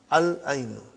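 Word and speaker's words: العين: We pronounce lam. Al-ainu.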